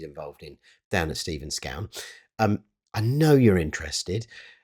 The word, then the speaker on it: Scown: things that he's involved in down at Steven Scone.